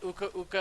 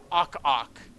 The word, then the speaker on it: Uka Uka: In a Kedicker's video, he pronounced Uka Uka as Awk Awk.